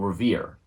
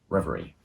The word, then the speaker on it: reverie: plots did little but fueled their own fanciful revere annalee enforces pronounced reverie then there were the liberals and socialists violent